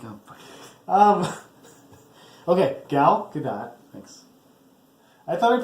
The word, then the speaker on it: Gal Gadot: So Gail Gadot. So she's okay. Yeah, She's just playing her part. I said it right. No, you said Gail again.